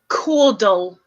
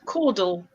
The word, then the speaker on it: caudal: Caudal, like cordial, but it's caudal.